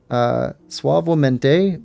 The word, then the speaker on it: suavemente: Suavemente means smooth is Spanish. It's pronounced suavemente.